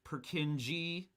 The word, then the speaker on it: Purkinje: here's lynnea coming to the rescue it is pronounced purkinji awesome excellent great love love to see it